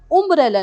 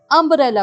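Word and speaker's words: umbrella: यहाँ पे हम उम्ब्रेला नहीं बोल रहे, अम्ब्रेला बोल रहे हैं। अम्ब्रेला because you इज a vowel.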